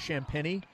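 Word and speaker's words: Champagnie: Every time I see the name and then that it's pronounced champagne, I immediately think of the Continental on Saturday Night Live.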